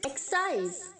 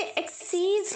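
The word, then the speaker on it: excise: अस्तित्व होना एक्सिस्ट existing एक्साइज एक्साइज एक्साइज इसे एक्सक्यूज नहीं बोलेंगे की है तो साइज नहीं बोलेंगे एक्सक्यूज नहीं एक्साइज एक्साइज एक्साइज उत्पादक शुल्क एक्साइजेज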